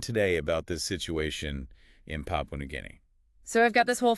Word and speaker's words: Papua New Guinea: It's Papua New Guinea, not Papini or whatever. Sometimes people get it mixed up.